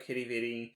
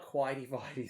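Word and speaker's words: Quidi Vidi: Google and check out Kitty Vitty. You might have to spell that for them. Oh, they call it Quidey Videy sometimes. So it's Quidi, so that's Kitty, Vidi, Vitty.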